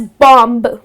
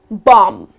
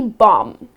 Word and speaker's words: bomb: bomb what's bomb now here the last b goes silent so the correct pronunciation of this word is bomb okay you are gonna skip pronouncing the last b it's not gonna be bomb but it's just gonna